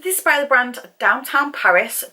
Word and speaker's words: DWTN: is by the brand downtown paris but obviously it's spelled dwtn so downtown this is full size